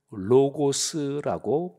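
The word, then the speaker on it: λόγος: 때 그 말씀이라는 것은 헬라어로 하면 로고스라고 발음합니다 로고스 이게 이제 성경에 말씀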